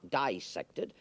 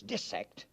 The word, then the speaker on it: dissect: cannot be dissected parenthetically you notice I pronounce the word dis sectored not dissected it is not dissection when you cut up fishes and mollusks and cats and things the word is de-sect and the word is